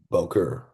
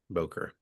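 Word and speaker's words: בֹּקֶר: learning Hebrew, but uh, I have heard people who are a lot more fluent in Hebrew than me just pronounce this as Boker, Boker. Boker.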